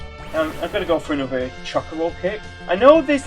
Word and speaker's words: Chocobo: where we get a Chocobo from, but it's pronounced Chocobo, probably due to like how Japan pronounces like syllables and that.